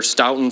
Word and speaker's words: Stoughton: It's pronounced Stoughton.